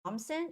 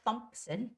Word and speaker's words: Thompson: see the word Thomson you think th so you have to make the th sound right no th here in Thompson you not make the T as it's not thumps it's not thumps it's Thompson just like simple T Angela Thompson Angela Thompson